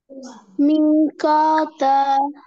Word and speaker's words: ميقاتا: মিকাতা ক ক মিকাতা। মিকাতা খ না, ক ক।